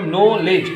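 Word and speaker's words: knowledge: के साइलेंट है, D silent है, KNOW नॉलेज, LEDGE नॉलेज, ठीक है।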